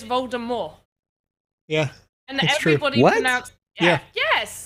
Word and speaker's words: Voldemort: but to be fair he is canonically known to be french so it's voldemort i didn't even know